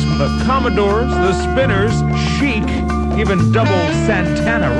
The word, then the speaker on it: chic: chic I know that it's French word so it's pronounced chic although it looks like chick that one called everybody